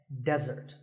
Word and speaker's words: desert: of a meal and it should not be confused with desert here the stress is on the first syllable which is death desert now I said that